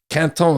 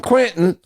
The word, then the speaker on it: Quinton: And the guy who invented this stuff, René Quinton is Quinton. I say, Quinton is what the French say, Quinton is what the Northerners say, and Quentin is what the Middle Americans say.